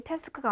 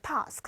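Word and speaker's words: task: 스크럼 아까 발음 드셨어요 영국 녀자 바람이 태스크가 아니라 타스크 라고 했죠 타스크 는 1 업무를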